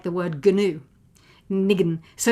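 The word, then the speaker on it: ניגון: So that's kind of two clear syllables, and the stress is on the second, nigun. And in Yiddish, we call it a nigun. The stress on the first syllable, nigun.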